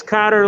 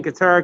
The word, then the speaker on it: Qatar: that qatar or qatar like the country as cotter like the country i keep saying guitar because i have the q in my head